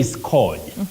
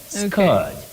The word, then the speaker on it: scourge: just like HIV mhm please don't say scorge scorge no you say scge with the long M Central sound Scourge Scourge not Scourge that we hear around us otherwise can we try